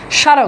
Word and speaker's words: স্মারক: এখন দেখেন এখানে তো তাই হয়েছে, স্মারক, দেখেন স্মারক, ঠিক আছে, স্মৃতি। তার মানে শব্দের শুরুতে মফালা থাকলে সেটার কোনো উচ্চারণ হয় না, শব্দের শুরুতে মফালা থাকলে সেটার কোনো উচ্চারণ হয় না।